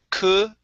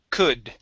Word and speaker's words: could: the U or sorry the L here is silent so we do not pronounce the L it's could could c one more time